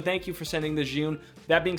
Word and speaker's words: Zhiyun: I always thought it was Zion, but it's not. It's Zhiyun. I'm terrible at this.